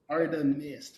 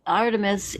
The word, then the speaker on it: Artemis: dragons and your name Aram Mist how do you spell that exactly or is it arist a r a r t e m i s Artemis not emist I it it sound